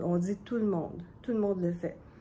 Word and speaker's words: tout le monde: On ne prononce pas tout le monde, on dit tout le monde.